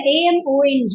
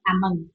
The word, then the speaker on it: among: And the AMONG அப்படிங்கிறது has to be read as among. Can you pronounce it? Okay, ma'am. Among. Among. அது O இருந்தா கூட it's among.